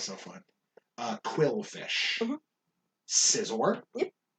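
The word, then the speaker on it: Scizor: fun uh quill fish scissor i know people who used to call it seizor i don't like that i don't like it either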